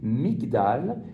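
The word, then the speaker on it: מגדל: matérialiser la chose et si vous vous prononcez ce mi ça va donner Migdal et Migdal c'est la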